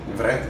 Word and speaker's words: Vreth: Well, what I wonder is, your nickname is, I don't know how to pronounce it, but Vreth. Vreth, yeah.